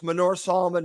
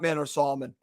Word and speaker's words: Manor Solomon: It's Manor Solomon, not Manor Solomon.